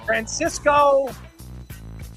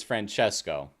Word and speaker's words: Francesco: Francisco Galeche. What is this? What is this? First off, it's Francesco.